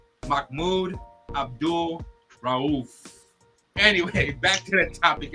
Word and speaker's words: Mahmoud Abdul Rauf: Is he right, audience? That is former NBA player Mahmoud Abdul Rauf.